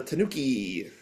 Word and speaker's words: tanuki: Takogi, you're phonetically so so close. The Tanuki.